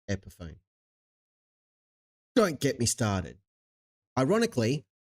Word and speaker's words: Epiphone: and they're a douchebag same as anyone who pronounces epone as Epiphany epone not Epiphany you need to have an epiphany that it's pronounced Epiphone don't get me started ironically Fender f n